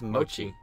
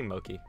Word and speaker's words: mochi: No, that's spelled mochi. Differently. That's mochi. I always say Moki.